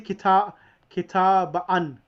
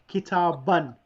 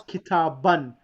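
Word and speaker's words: كتابًا: Now that the noun with tanween in the accusative case takes an alif which is not pronounced, meaning that we don't say kitabaan, we just read it kitaban.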